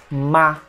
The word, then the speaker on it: my: Ah, quando você fala essa palavra solta, você pode falar my. Repita comigo, my. Porém, no meio de uma frase, às vezes o pessoal vai falar só ma, my mother, my brother,